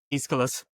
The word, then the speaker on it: Aeschylus: Dan, got to help me with his pronunciation. Aeschylus, thank you.